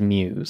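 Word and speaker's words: μ's: from the original series whose name is Muse yeah uh and it's it's spelled like Mew the character apostrophe s um which is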